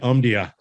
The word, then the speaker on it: Omdia: I'm always excited about interviewing individuals from, I'm going to get it, Omdia.